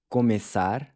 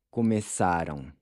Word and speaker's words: começar: For example, with the verb começar, the E is pronounced with a closed E, but then it changes to an open E in the present tense forms below.